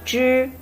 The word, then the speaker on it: zhi: When you want to pronounce zhi, you remember, put your tongue, zhi, the top of your tongue, come close to the top of your gum, and make your tongue curve and stay in the middle of your mouth.